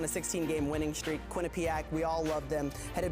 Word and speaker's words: Quinnipiac: have some experience and it's pronounced Quinnipiac everybody I'm never gonna get